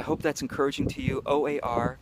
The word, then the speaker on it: O.A.R.: that's encouraging to you Oar by the way is pronounced or which is like having an or to help you row through life in a more gracious way I hope that's helpful